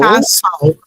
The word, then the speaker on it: castle: Castle. No, we're not gonna pronounce the T. We're gonna say so. Castle.